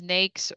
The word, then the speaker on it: NAICS: through NAICS codes and that's how we pronounce it is NAICS, but it stands for North American Industry Classification System.